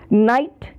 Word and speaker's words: night: इसमें NIGHT, इसमें भी GH का उच्चारण नहीं होता।